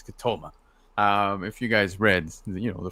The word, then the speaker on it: Ketema: Yes, you all remember Ketema. Apparently, the pronunciation is Ketoma.